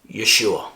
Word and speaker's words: Yeshua: I personally pronounce them Jehovah and Yeshua.